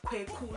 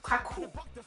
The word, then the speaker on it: Kweku: The Wednesday ones, the boy is called Kweku, not Kwaku. Kweku. And the girls are called Ekuya, not Ekuya.